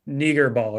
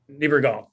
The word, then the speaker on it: Niebergall: Him and Susan Niegerball, right? Is that how you pronounce her name? Niebergall.